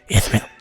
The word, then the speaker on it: Yathril: No, Victor of Yathril. Yeah, Yathril. It's Yathril.